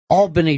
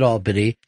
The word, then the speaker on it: Albany: I called it Albany, and everybody starts screaming at me, Albany. And they were really getting freaked out. And I'm like, look, the way it's fucking spelled, folks, you're mispronouncing it.